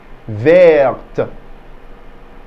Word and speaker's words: verte: Verte. Verte. Good. That's green, and that's feminine. So in the masculine, the T is silent. In the feminine, we stress the T.